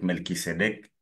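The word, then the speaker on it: Melchisédech: C'est comme elle prononce Melchisédec. Melkisédeek comme vous voulez. C'est un mot qui n'est pas français. C'est un mot qui est euh hébreu, araméen. Donc on peut le prononcer Melki, Melchi, ça passe.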